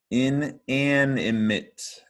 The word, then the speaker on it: inanimate: Remember that mate part, because you might spell it M-I-T, but the stressed syllable is an.